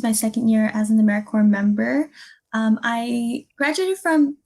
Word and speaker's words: AmeriCorps: of times you hear americorps uh keep in mind the p is very similar to americorps or marine corporate so the p is silent so once we got